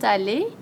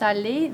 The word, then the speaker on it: allés: Ils sont allés. Again, doesn't sound any different, but we have to agree in gender and number.